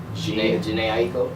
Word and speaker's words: Jhené Aiko: Like, probably Jhené Aiko. I don't know if I'm saying her name. Jhené Aiko.